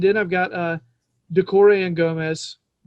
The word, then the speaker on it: Gomes: I believe the Portuguese pronunciation is with a sh at the end. I think that's the right way to say it.